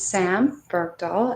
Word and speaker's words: Sam Bergdahl: listening to this recording if you're wondering how my name is pronounced it's sam bergdahl and the origins of bergdahl is from sweden from sweden so the only thing